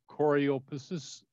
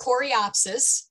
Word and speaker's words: coreopsis: this wrong are all choreographers i've said it wrong i know variety is considered native to our area nope uh cor they're coreopsis and uh no they're they're